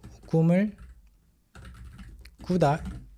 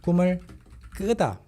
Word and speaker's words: 꿈을 끄다: But here, 꿈을 끄다. A subtle change in pronunciation, right? 꿈을 꾸다, 꿈을 끄다. So you have to listen very carefully.